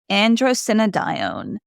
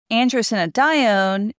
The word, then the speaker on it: Androstenedione: And if somebody else has a better pronunciation, you can leave me a message. All right. Androstenedione. Androstenedione is produced in the adrenal gland, and then